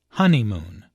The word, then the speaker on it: honeymoon: There are 3 syllables in honeymoon, with a stress on the first syllable, honeymoon.